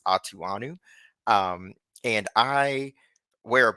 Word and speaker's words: Atughonu: tackle my last name my last name is pronounced atuanu um and I wear